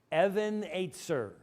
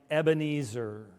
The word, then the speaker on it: Ebenezer: yanking your chain um there is a line in A Hymn that we all know that we mispronounce all the time and I want to help you I want you to help me to correct the whole Christian Church here I raise my Evan eight sir Evan eight sir now how has everybody say it here I raise my Ebenezer and I remember once